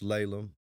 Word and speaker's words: LALEM: It is pronounced LALEM.